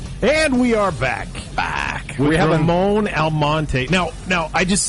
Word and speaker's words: Ramon Almonte: Ramon Almonte.